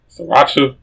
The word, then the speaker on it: Sriracha: I'm pretty sure there's a silent R in there, like there's a silent J in yogging. Sriracha.